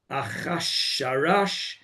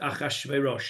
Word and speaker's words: Achashverosh: was from the Megillah, you would say that says Achasharash, Ichsharash, whatever it is, right? It's pronounced Achashverosh.